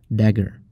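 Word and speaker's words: †: This symbol is pronounced as dagger, so we say psi dagger.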